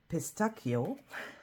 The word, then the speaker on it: pistacchio: I always mix it up with the Italian language where it's pistacchio.